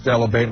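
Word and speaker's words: Dell'Abate: My parents My mother still says Delivate. My father still says debate. Oh, really? Say delabate? Because a that's the proper pronunciation.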